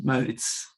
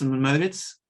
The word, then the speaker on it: Mauritz: You can say both Mauritz and Mauritz. In Norwegian, it's Mauritz.